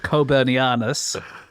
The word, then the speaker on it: Cockburnianus: It's called a Cockburnianus. Ooh, that was... Now, I would pronounce that Coburnianus. Yep. Because it's named after the Coburn family, but Coburn is spelled Cockburn.